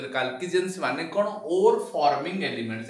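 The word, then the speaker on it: chalcogens: एमान को आउ कोन कहा जे, these are also called, collectively called कालकीजेंस, पोट लिखा जाए चालकोजेन, एको पढ़ा जाए कौन ओ कालकीजेंस, एमी तक प्रोनाउंस करा जाए।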